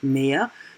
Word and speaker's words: Meer: This is again the German word Meer. Phonetically, it means the sea or more. So only when you see it spelled, then of course more is written with an H and the C with double E.